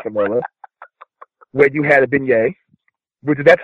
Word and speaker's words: beignet: Kitchen Killer with Kamilla, where you had a beignet. Which that's how it's pronounced for the record, it's beignet.